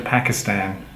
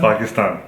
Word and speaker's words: Pakistan: say i'm going to pakistan and they don't use the long a it's kind of insulting how do you say pakistan pakistan say again pakistan ah listen to the long is there very good oh so